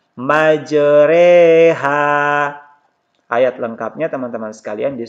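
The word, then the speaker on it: مجراها: Cara membacanya itu fathah yang dimiringkan ke kasrah dan alif yang dimiringkan ke ya, sehingga dibaca ya, dibaca dan huruf oronya ini tetap dibaca tarqiq. Jadi tulisannya ini majroha. Ini cara membacanya majreha.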